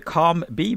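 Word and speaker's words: COM-B: Do you call it the COMB model? Is that the correct pronunciation of it? Yes.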